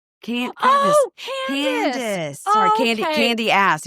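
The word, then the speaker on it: Candiace: Um, Candace. Candace. Candy. Candace. Sorry. Candy. Candy ass. If you're saying it phonetically.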